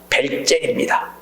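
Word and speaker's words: Welzel: 사람이야 바로 독일의 법학자 벨제 독일은 독일어는를 비로 발음을 해요 그래서이 벨제이라 사람이 목적적인의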